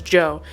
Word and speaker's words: DJO: songs on here for is DJO, otherwise known as Joe. I call them DJO cuz I know people who actually have the name of Joe. So for his name is Joe, though. I should pronounce it that way.